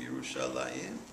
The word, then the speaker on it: Yerushalayim: It's not, we pronounce it Shalayim, Yerushalayim, but the name of the city is Shalem.